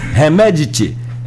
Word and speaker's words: Hemedti: Dagalo, mais conhecido como Hemedti. Hemedti ficou mais fácil, que me lembra assim, Hemedti, a pronúncia mais próxima da correta, vamos dizer assim.